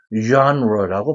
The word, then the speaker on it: genre: genre라고 발음됩니다.